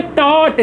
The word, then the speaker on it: taught: टॉट। Spelling देखिए यहाँ पे क्या है?